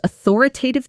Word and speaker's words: authoritative: To r i tativ. The primary stress is on the second syllable. T O to R.